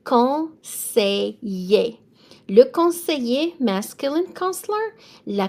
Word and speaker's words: conseiller: So E-I is going to be an A sound. E-R is an A sound. Double L between two vowels is a Y sound. It's going to be conseiller.